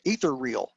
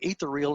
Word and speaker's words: Ethereal: got to put a couple extra syllables in there it's ether real all right in fact i called it ethereal until i met gerald about 10 years ago and found out that i was mispronouncing it but at the end